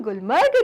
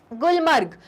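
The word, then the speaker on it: Gulmarg: तो चिल्ड्रन आओ और अब पढ़े हम गुलमर्ग के बारे में। गुलमर्ग, नोन एज गुलमर्ग, क्योंकि हिंदी में आप गुलमर्ग कह रहे हैं, लेकिन चिल्ड्रन कश्मीरी प्रोनाउंसिएशन क्या है? गुलमार्ग, ओके।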